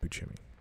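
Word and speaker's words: Buscemi: miracle workers with Daniel Radcliffe and um Steve bu chimy yeah it's pronounced bimy and a bunch of other people it's it's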